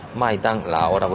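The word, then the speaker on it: 麦当劳: 쓸 수가 없기 때문에 마이당 라오라고 쓰는데요. 맥도날드하고 이름이 마이당 라오 비슷하게 들리는데요.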